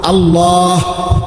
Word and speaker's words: আল্লাহ: শেষে আল্লাহ শেষে একটা গোল হা আছে ছোট হা আল্লাহ মানে আল্লাহু তো হুটারে শ্বাস ফেলাইলে হল আল্লাহ।